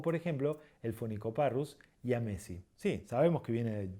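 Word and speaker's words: jamesi: término de más moderno, la pronunciamos como I. Por ejemplo, la Platalea ayaya o por ejemplo, el Phoenicoparrus yamesi. Sí, sabemos que viene de James, pero no decimos Jamesy o ni nada por el estilo, es yamesi.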